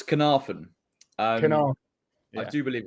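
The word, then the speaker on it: Caernarfon: Well, I do believe it's Carnarvon. Yeah. I do believe it's Carnarvon, yeah.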